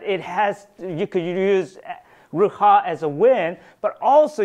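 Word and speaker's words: רוח: Now, I want you to understand, in Hebrew, there's a word called wind, and it is pronounced Ruha. It's Ruha. And it sounds like the wind when you say it, right?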